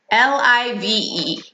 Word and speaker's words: live: is the word live, L-I-V-E. This has a couple different pronunciations depending on how you use it, but the most common is live. Live with a soft I, live.